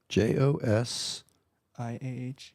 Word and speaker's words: Josiah: J-O-S. I-A-H. Yep. Okay. Mirabelle, it's a long one. M-I-R-A-B-E-L-E. Okay. And Ariel, which is A-R-I-E-L-E. A-R-I-E-L-E. Okay, so I have, and it's actually, Josiah. you pronounce the J, Josiah Yep.